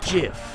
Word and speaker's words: GIF: It's pronounced GIF. Huh? Dot GIF, like the peanut butter.